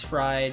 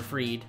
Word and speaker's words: Fried: charlie morton uh max fried or freed i think that's how you say it freed or fried i think it's freed even though it's spelled pride ian anderson and then drew